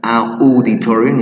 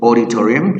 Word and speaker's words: auditorium: It's not auditorium, it's auditorium.